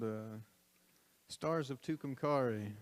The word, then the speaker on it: Tucumcari: wrote this song and i didn't know how to pronounce it so i rhymed it with the word sorry which you'll hear shortly and then i found out you pronounce it tucumcari and i just like